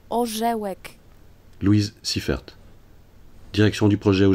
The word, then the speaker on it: Orzełek: Votard, Mathilde Ganancia Carolina Orgelek, ja pierdolę, nie tak się wymawia Carolina Orzełek.